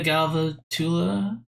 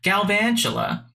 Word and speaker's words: Galvantula: think i need a galva tula i keep saying it wrong galvantula i don't need it